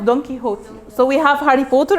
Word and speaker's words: Don Quixote: It's pronounced Don Quixote. So we have Harry Potter and Don Quixote. Any other answers? Don Quixote. Yes, Don Quixote. It's actually Don Quixote.